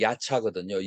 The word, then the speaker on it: 야차: 생각나나요 뭐가 생각나나요 야차 이제 한우 발음이 야차거든요 야차가 여러분들은 무슨 의미를